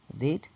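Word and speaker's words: read: এবার এর 3 নম্বর ফর্মটা বসবে, রিড, রেড, রেড। উচ্চারণটা কিন্তু রেড হবে, হ্যাঁ, স্পেলিংটা আগে থাকবে, কিন্তু উচ্চারণটা রেড হবে।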